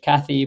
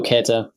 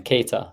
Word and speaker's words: Käthe: This one I would pronounce in English Kathy, but again, because we've added the German component to this campaign, let's take a look at what it actually sounds like. Hallo, Käthe. So again, Keta, very German name.